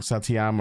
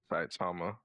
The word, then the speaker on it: Saitama: I forget his I say his name wrong. Satyama or some like that. Saitama.